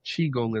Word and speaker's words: Qigong: But the Chiong is spelled QI G.